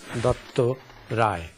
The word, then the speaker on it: Dutta Rai: I'm a Bengali and I would like to be pronounced as Dutta Rai.